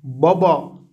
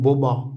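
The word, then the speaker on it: baba: بابا مفخم جدا، في لهجة البحر الأسود يقولون بوبا بوبا، يعني تصبح هذه قريبة من الواو، لكن اللهجة في يعني الرسمية في إسطنبول بابا بابا مفخم طبعا.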